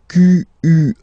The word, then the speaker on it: quelle: And then the feminine form is written like that, Q-U-E-L-L-E, but it's pronounced like the masculine form. Quelle at the masculine, quelle at the feminine. Okay, so it's basically same pronunciation.